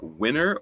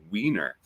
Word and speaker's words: Winner: uh directed by uh you can pronounce this two ways uh Michael uh winner or Michael weer we're gon Michael